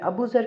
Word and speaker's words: अबू ज़र: अबू ज़र के spelling ABUZAR अबू ज़र और उर्दू में इसको लिखेंगे अले बे वाओ जे रे अबू ज़र।